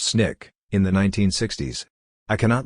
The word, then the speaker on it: SNCC: student non-violent Coordinating Committee SNCC pronounced Snick in the 1960s I